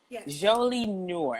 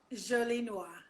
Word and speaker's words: Jolie Noir: an athleisure apparel line jolie nour am i saying it correctly jolie noir okay come on come